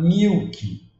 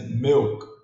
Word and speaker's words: milk: E o I aqui, nesse caso, pronunciado como E, que é a palavra milk. Muitos falam milk, mas é milk, milk.